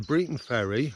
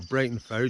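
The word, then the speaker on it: Briton Ferry: again it'll be at the Breton Ferry or Brighton Ferry depending on how you want to pronounce it I'll put a link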